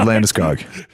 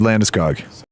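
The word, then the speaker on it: Landeskog: Gabrielle, one is him speaking American and one is not American. This is Gabe Landiskog. Gabriel Lamuskoo.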